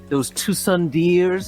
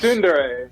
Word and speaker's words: Tsundere: be one of those Tusundeers. Is that how they pronounce it? Tusundeers? Tsundere. I think Yes. it's Tsundere? Yeah, Well, Tsundere. It's spelled Tusundeer. That's what I read it as.